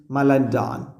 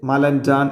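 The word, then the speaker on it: Malandain: അത് റോൾ ചെയ്യാൻ തുടങ്ങിനോസ് മലന്റാൻ അയാളുടെ പേര് വായിക്കുക കറക്റ്റ് മലന്റാൻ എന്നാണ് ട്ടോ മലന്റ എന്ന് നിങ്ങൾക്ക് വായിച്ചോളി കുഴപ്പമൊന്നുമില്ല സ്പെല്ലിങ് പഠിക്കാൻ വേണ്ടിയിട്ട് സ മലന്റാൻ ഫ്രഞ്ച് ഉച്ചാരണാണ് അയാളുടെ പേരാണ് സ മലന്റൻ ഒരു പക്ഷേ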